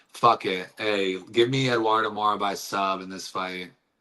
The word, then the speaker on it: Eduarda Moura: Eduarda Moura.